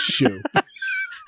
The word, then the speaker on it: Xu: and pointed to it it's pronounced Shu and I don't know how you get an ex out of that especially since it's it's